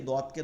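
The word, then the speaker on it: ضاد: অনেকে জদ বলি বা জয়দ বলি, এই উচ্চারণগুলো করা যাবে না, এটা উর্দু উচ্চারণ, এটা আরবিতে করা যাবে না। আরবিকে দদকে দদ বলতে হবে, দদ দদ দদ দদ।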